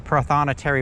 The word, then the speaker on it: prothonotary: the finally gonna say it right it's the prothonotary warbler but there you go i've seen those